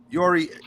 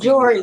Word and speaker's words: Jory: Listen, Yori. Is it Yori? Am I saying it right? Please don't. Jory, like Tori with a J.